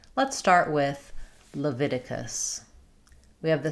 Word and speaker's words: Leviticus: Leviticus. Leviticus. It can help to start with the stress syllable like Viticus, Leviticus.